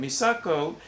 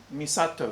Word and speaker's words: Misato: Misako tries to be the caring Misato, excuse me, just making sure I got the pronunciation of the name correct.